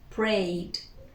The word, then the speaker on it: prayed: So simple past, we add the ed, we pronounce only the d, we say prayed, prayed, prayed.